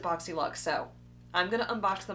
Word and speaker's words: BoxyLuxe: for the longest time I have called it boxy luge and I feel like a complete redneck um I don't know if that's how they were pronouncing it at the time and that's why I thought it was pronounced like that or if that's just how I read it now I'm seeing everybody pronounce it boxy luck so I'm gonna unbox